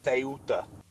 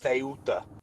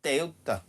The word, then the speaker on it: Ceuta: It's not Ceuta, it's this. Ceuta. Ceuta.